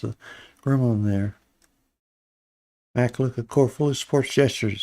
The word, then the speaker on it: Makulu: I want to say Maluka or something like that, but it's Makulu. Makulu.